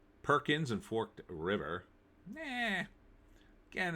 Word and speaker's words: Forked River: I am not, because I already read this article, and it is Forked River. It's not forked with a T. It's Forked River.